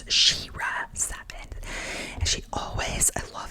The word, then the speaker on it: SheRa Seven: name correctly because I was saying Shea but it's sheira seven and she always I